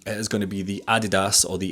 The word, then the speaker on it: Adidas: It is going to be the Adidas, or the Adidas as I pronounce it as a Scotsman, Supernova 3s.